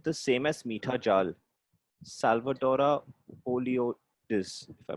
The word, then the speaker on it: Salvadora oleoides: Salvadora oleoides, if I pronounce That's exactly what I said, Salvadora oleoides.